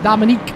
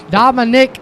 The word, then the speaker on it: Dominic: I make sure I say his name right because he always yells at me because he says I'm calling him a chick's name, Dominique. Dominic Lumley.